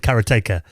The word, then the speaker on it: Karateka: 1984 uh called uh karateka or karateka it's also different pronunciations of that I think we had Jordan on the podcast and he said carrotaker I'm sure that's how he pronounced it uh but I mean